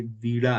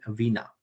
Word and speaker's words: वीणा: बैठी हुई हैं, ये वीणा है। ओके। इसको बोलते हैं वीणा, वीणा या वीणा, डिपेंडिंग अपॉन कि आप कैसे प्रोनाउंस कर रहे हो हिंदी और इंग्लिश के बीच में।